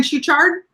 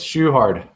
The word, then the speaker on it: Schuchard: Did I say it right? Kevin Schuchard? Close. Schuchard. That's all right. Schuchard. Because there's another C in there.